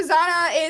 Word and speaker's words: Zahnah: manners um but yeah so Zanna is a uh English pronunciation of my full name in Spanish I am Hispanic I